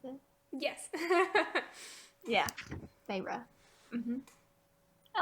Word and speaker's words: Feyre: Probably Feyre. Right? That's how you pronounce it? Yes. Yeah. Feyre.